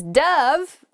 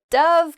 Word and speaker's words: dove: right next is dove Dove can be a bird it's a white bird it often represents peace and it can also uh be pronounced Dove which is the past tense of the verb to dive so you might say